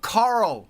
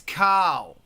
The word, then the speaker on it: Carl: __ ] carl right it's not coral for christ's sake it's carl it's not kyle it's carl thanks rob um i could